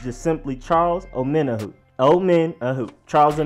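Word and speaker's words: Omenihu: actually pretty easy once you know how to pronounce it it's just simply Charles omena who old men who Charles a minute who then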